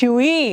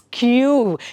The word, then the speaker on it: queue: ಬಟ್ ಹೌ ಡು you pronounce it? ಇಟ್ ಈಸ್ ನಾಟ್ QE ಅಲ್ಲ, ಇಟ್ಸ್ ಕ್ಯೂ, KYOO, ಕ್ಯೂ ಅಂತ ಅಂದರೆ where you stand in a line.